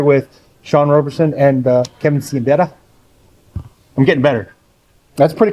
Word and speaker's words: Siembieda: So for those who always ask, and I think you did this once before, in Polish, my name is pronounced Kevin Siembieda, but there's no H in it, and it just confuses people.